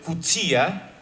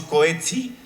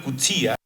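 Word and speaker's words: Coetzee: Elizabeth costelo su novela de 2003 John maswell cuta me enseñaron que así se pronuncia este autor que siempre le decimos coets una una persona que lo conoció me dice entonces John Maxwell cuta agonista de ese libro una observación que se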